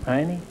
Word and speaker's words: Heine: Heine, is that the way you pronounce it, Heine? Yeah, just plain Heine.